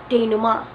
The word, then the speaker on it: denouement: pronunciation of this is denouement. Denouement. Or denouement. denouement. You could somehow hear letter N, denouement. But most of the times, denouement is used. Denouement. The falling action of the story, denouement.